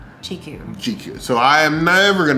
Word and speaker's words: Jiko: Is that Jaiku is the British colonial pronunciation of what is a Swahili word. GQ.